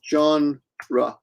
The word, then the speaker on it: genre: genre but in English you pronounce pronunciation is John rah that's pronunciation just the pronunciation out so unlucky right